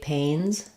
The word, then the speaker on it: pains: day or say um you again might notice when I say say pains pains that it might be a little harder for you to do the a dip Fong when the N is following so practice it like